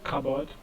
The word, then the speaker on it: cupboard: So from this you can see that the P here is silent because it's transcribed as cupboard, and option D, psychology, is transcribed this way: psychology.